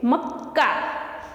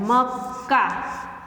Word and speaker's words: मक्का: म क आधा है तो हम उसका साउंड कैसे प्रोनाउंस कैसे करेंगे? मक, नहीं, उसको हमें पूरा करना पड़ता है। मक्का क्या है? मक्का।